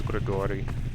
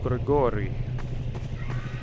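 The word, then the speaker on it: Grigori: When I took Russian class, my Russian name was Gregory, but it's hard to pronounce if you don't normally roll your R's. Gregory. And it's not Gregory, it's Gregory. Kind of like it's not Vladimir, it's Vladimir.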